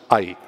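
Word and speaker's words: 愛: It is pronounced ai.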